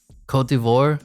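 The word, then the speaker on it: Côte d'Ivoire: Ivory Coast is next the Google Translate pronounce it Cote d'Ivoire was that is that the official pronunciation I don't know man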